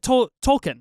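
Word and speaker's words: tulkun: think about that hunting the uh tolkun is it Tolkien right is is how you say that nice I had it right the first time let's go uh hunting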